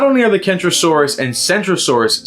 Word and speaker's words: Centrosaurus: with the ceratopsian dinosaur centrosaurus pronounced with a soft seat this is because in